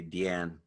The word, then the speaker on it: Diane: Of course, now we're and there's different points of view about how you pronounce her first name. Maybe I just say Diane Arbus. Some curators will say Deanne Arbus.